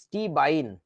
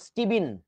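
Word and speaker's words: stibine: এরকম মানে বানানটা এরকম স্টিবাইন অথবা এটাকে কি বলা উচিত ছিল বলতো এটাকে বলা যেত স্টিবিন স্টিবাইন বা স্টিবিন কিন্তু আমাদের দেশে যে কাজটা করে এটাকে বলে শুধু স্টিবাইন বুঝেছো আচ্ছা তারপরে আসো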